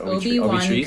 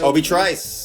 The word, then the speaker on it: Obi Trice: Is it Obi-Wan Treese? Kenobi. Obi Trice. Obi Trice. Okay, Yes. that's what I didn't know. That's bad pronunciation by me.